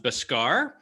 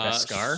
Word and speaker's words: Beskar: Let's go with I think it's pronounced Biscar. Okay, Biscar.